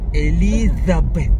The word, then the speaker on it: Elizabeth: ah paano paano Elizabeth It's Z not s Eliza zabeth Eliza Elizabeth ah Elizabeth Elizabeth Where